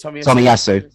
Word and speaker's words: Tomiyasu: What would you this well, I can't pronounce his name. Tomiyasu, is it? Tomiyasu.